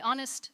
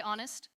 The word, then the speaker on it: honest: Honest. Again, honest. Great. Remember the H is silent. We say honest.